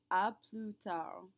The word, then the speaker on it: à plus tard: Our other version of see you later is à plus tard. À plus tard. Note that we pronounce neither the S nor the D.